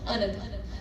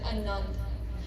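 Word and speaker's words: ਅਨੰਦ: written Arda, Nanna, Dada, which is pronounced Anand. Some people mistakenly pronounce it as Anand, right? So in the pronunciation tip, it's written Arda, Nanna, dash, Dada, to tell you it's Anand.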